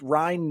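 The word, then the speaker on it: Ryne: against Ryan Nelson 25 Ryan like Ryan Sandberg by the way in case you're wondering I don't know if he pronounces it Ryan or Ryan it's it's r-y-n-e for those counting at home we're gonna we're gonna pretend like it's Ryan Sandberg and just say Ryan um 25 year old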